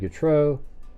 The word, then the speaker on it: Getreu: The Army said Gatro. Um I think they pronounce it Gatru though.